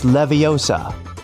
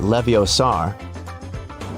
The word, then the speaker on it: Leviosa: Hey Siri, it's Leviosa, not Leviosar.